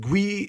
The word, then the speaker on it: GUI: The Graphical User Interface, pronounced GUI, is a visual way for users to interact with operating system using graphical elements like windows, icons, and menus.